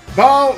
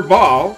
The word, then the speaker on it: Baal: Let's uh now what we want to do is lure ball or bow all the way up here. I think his name is supposed to be pronounced like bowel as in like bowel movements except without the W obviously.